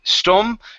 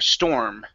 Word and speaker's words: storm: you at right here instead of stone store give me that our sound in there storm storm storm okay that's